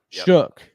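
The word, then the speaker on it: Shough: Shook.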